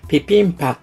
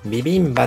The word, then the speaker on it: ビビンバ: でこうなると日本語でではビビンバという表記がツレされが実際にはピピンパのように発音